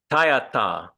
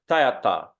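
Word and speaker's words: tadyathā: So it's not tayata, but it's tayata. Okay, so a little bit like a Spanish, tayata.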